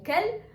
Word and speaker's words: quel: ناخد بالنا ان ال4 أشكال ليهم نفس النطق. في المفرد المذكر اسمه كل، في المفرد المؤنث اسمه كل، في الجمع المذكر اسمه كل، في الجمع المؤنث اسمها كل. نفس النطق، الفرق بيبقى في السبيلنج، في الكتابة.